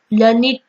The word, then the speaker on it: learned: We pronounce it as learned to rhyme with, created, weighted, ऐसा उसका pronounce होता है।